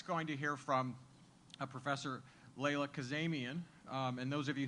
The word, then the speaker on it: Layla: We're next going to hear from Professor Layla Kazemian. And those of you who see her name on the agenda, don't call her Lila. Her name is spelled L-I-L-A, but it's Layla.